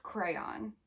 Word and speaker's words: crayon: No, I say with two syllables where the second syllable rhymes with dawn.